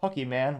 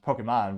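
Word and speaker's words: Pokémon: to pick him for the VP C involved Pokey man with his son I'm kidding I know it's pronounced Pokemon but that's how my dad always said back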